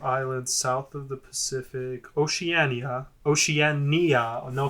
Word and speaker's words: Oceania: I think you just pronounced it poorly. Oceania.